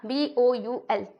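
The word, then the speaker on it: bowl: लेकिन एक्चुअल में इसका प्रोनाउंसिएशन क्या होता है, जो आपके पास वो कटोरी होते हैं ना उसको कहते हैं बोल कहते हैं, है ना, BOUL। लेकिन ऐसे बोलचाल की भाषा में हम लोग बाउल बोलते रहते हैं ना।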